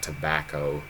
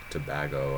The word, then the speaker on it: Tobago: from trinidad and tobago not tobacco tobago i'm pretty sure it's pronounced it's pretty cool it's